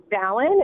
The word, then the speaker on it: Samhain: And Samhain is actually pronounced Samhain. It's a Gaelic term, Mm-hmm. and they don't kind of pronounce all the letters the way we're used to pronouncing the letters.